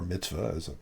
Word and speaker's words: mitzvah: So, as most of our listeners know, we're Jewish, and the term mitzvah, or mitzvah is often pronounced, the more Yiddish pronunciation, a mitzvah is often used sort of colloquially as a good deed, but that's not what it means.